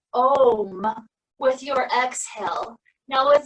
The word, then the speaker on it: Om: It's actually a really cool word because to make the sound of it, the A starts more in the back of the throat, the U starts to